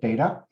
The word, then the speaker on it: DETA: The acronym is DETA, but we pronounce it DATA, and has been recognized for her work as she guides strategic digital learning efforts across the globe.